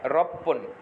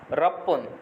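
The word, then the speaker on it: ろっぷん: পুটা পয়ে পয় রস হয়ে যাবে তাহলে এটার উচ্চারণ হবে রপ্পন ছয় মিনিট রপ্পন ছয় মিনিট এরপরে আছে সাত মিনিট সাত মিনিটটা আমরা নরমাল রাখবো নানা ফোন নানা ফোন এরপরে আছে আট মিনিট।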